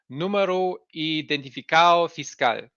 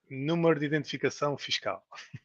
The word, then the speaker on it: Número de identificação fiscal: NIF, which is the Número Identificado Fiscal. It's your tax identification number. Did I say it correctly? Número de identificação fiscal. Yes, that one. Close enough. And with this, you're gonna go everywhere.